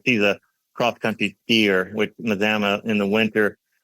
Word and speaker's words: Mazama: And clocking in at 330 square feet is another house you've designed called Tiny Leaf is it Mazama? Is that how you pronounce it? Mazama, Washington.